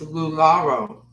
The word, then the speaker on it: Laro: and you know what I think I pronounced your name wrong it's Laro Laro okay I want to